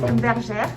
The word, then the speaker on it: Bergère: How would you pronounce it? Bergère.